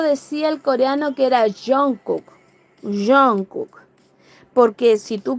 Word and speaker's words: Jungkook: Sí, pues se pronuncia Jungkook.